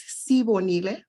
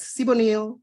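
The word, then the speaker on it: Sibonile: myself my name is sibo Nile my name is often butchered as simonil or sibernail or sibneil I've heard so many versions of my name especially since I moved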